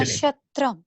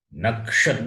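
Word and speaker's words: nakṣatram: Nashatram. Nakshatram. Nashatram. Not nashatram. Nakshatram. Kakara plus murdini shakara is there.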